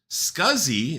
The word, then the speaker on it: SCSI: SCSI, and that's how we pronounce it, as in rhymes with fuzzy, is drive technology that's been around since the 70s.